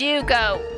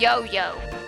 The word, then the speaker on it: Yugo: My name is Yugo, not Yo-Yo. Get it right.